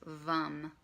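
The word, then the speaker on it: Vam: mantra for that one is vom V AM or pronounced bum okay so we're gonna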